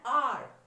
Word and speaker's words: hour: An hour, H is not, it's not hour, it's hour. So O-U-R is pronunciated, H is not pronunciated.